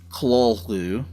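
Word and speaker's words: Cthulhu: The terminal U is a simple double O sound.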